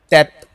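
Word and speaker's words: טֵית: उसको कैसे प्रोनाउंस करते हैं, बोलते कैसे हैं? ता से, टेथ।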